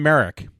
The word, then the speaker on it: Merrick: hear me correctly John Merrick The Elephant Man I did say mer not Merit but mer don't ask me to